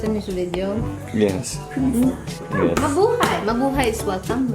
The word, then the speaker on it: Mabuhay: Mabuhay. Mabuhay is welcome, right? Yes. Yeah. Welcome. Welcome. Welcome. Mabuhay. Labuha. Ma buhay. Mabu. Hi. Hi. Yep. I say hi. Yep. It's like you're saying my boo. Hi.